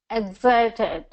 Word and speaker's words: excited: And then it's going to be second syllable stress. So we're going to go excited. Excited.